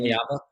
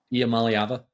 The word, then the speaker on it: Iamaleava: Obviously, Iamaleava? yeah. We're I finally down got to that down. It only took me 2 weeks. say it again. How do you say it? Iamaleava?